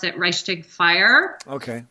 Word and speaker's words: Reichstag: He doesn't actually talk about the, I think you pronounce it Reichstag fire.